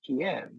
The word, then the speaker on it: Kyiv: So on 3 days' notice, I flew to Kyiv, which in those days we called Kiev, the Russian pronunciation of the word.